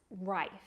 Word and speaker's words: rife: is to remember that it Rhymes or has a similar sound as the word life r r is an